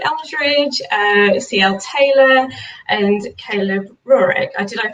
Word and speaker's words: Roehrig: Taylor, and Caleb Roehrig. Did I pronounce that right, Caleb? It's Roehrig, but you're close enough.